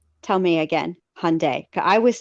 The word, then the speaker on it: Hyundai: I'm here in my Elantra, and I have never heard, how is it pronounced? Tell me again. Hyundai.